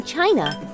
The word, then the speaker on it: Qi: true pronunciation in chinese for most americans the closest would be chi as in chin so put it all